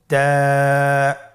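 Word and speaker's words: تاء: আপনারা আমার সাথে বলুন তা আবার বলুন তা এর মাখরাজ কোন জায়গা থেকে? জিহ্বার আগা সামনের উপরের দুই দাঁতের গোড়ার সঙ্গে লাগিয়ে উচ্চারিত হয়।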